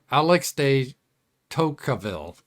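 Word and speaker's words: Alexis de Tocqueville: in the 19th century Alex day toille that that's how the English pronunciation they say it differently in Fran in French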